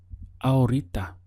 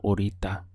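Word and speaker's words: ahorita: second it changes to our Rita our Rita the H is silent so the pronunciation skips from the are straight to the or uh aurita how would you say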